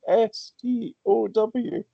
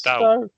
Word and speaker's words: Stow: It's pronounced sta. So Polish just like he stood. It's it's exactly like past tense of stand in Polish.